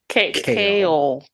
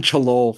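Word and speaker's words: Chaol: Kale.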